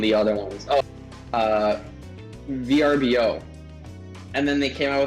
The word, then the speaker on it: Vrbo: company this is real this is how they pronounce it like no it's like okay you go tell mr verbo that it's a vrbo there you go right right anyway ryan sorry